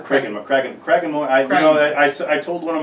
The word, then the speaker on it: Cragganmore: So the distillery was Cragganmore. Cragganmore.